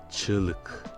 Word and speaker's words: çığlık: On a dit que le CC10 se prononce ch, le I sans point E, et le G avec l'accent circonflexe à l'envers est muet, mais il permet l'allongement de la voyelle qui précède donc le I sans point.